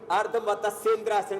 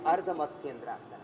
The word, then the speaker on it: अर्धमत्स्येंद्रासन: या अर्धमत्स्येंद्रासन, कुछ लोग ऐसे अर्धमत्स्येंद्रासन बोलते हैं, ये ठीक इसका उच्चारण नहीं है, सही है अर्धमत्स्येंद्रासन, मत्स्येंद्रासन जी।